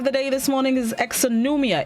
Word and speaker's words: exonumia: the word of the day this morning is exonumia it's spelled e-x-o-n-u-m-i-a it's a plural known which means